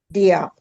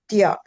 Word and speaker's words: Diop: Could you pronounce that for us? Diop. D-I-O. Idio? Diop.